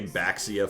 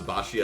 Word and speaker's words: Baxia: going to hunt hunt people who say baxia for sport it's once you know the true it's like Plato's Cave once you know how to pronounce bashia it's like it's over